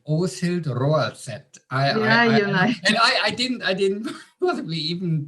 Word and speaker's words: Åshild Roaldset: What an amazing Norwegian name, Åshild Roaldset. I didn't possibly even pronounce it properly, but that was perfect.